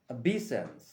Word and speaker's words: obeisance: any language okay word number one is obeisance a b sense i'll spell it o b e i s a n